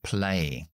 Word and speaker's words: play: una consonante Así que pronunciamos la a solamente y la y no play Play también pronunciamos la a